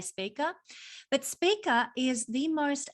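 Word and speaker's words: Spica: is the fixed star speaker some people say spiker it all depends on you know your pronunciation of where you come from i say speaker but speaker is the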